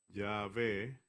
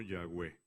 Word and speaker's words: Yahvé: Yahvé, esa W es una letra en hebreo que se llama Vau. Vau. Se escribe W y se pronuncia como V. Por eso es que es Yahvé, no Yahweh, Yahvé.